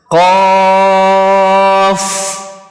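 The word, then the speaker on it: ق: Kemudian huruf qaf sebelahnya, cara membacanya qaf. Nah, perhatikan baik-baik, ini bukan dibaca ko atau dibaca cepat qaf, tapi dibaca panjang 3 ayunan atau 6 harokat.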